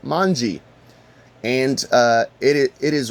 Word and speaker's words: manji: In Japanese, the character is pronounced mangi and uh it it is represented with the arms pointing to the left.